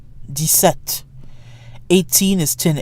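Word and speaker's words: dix-sept: of 17 through 19 de set de suite and DS enough 17 and 18 follow standard French pronunciation rules the X is silent and 17 de set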